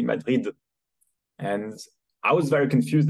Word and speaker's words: Madrid: And Madrid is pronounced as in English with the D, Madrid.